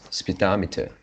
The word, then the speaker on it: speedometer: spitometer yellow meter but the correct one should be the stress on the second syllable more which is speedometer speedometer okay if you